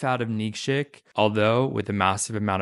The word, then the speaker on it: Nikšić: I always have to look at the way it's spelled. Nikšić. No, Nikšić.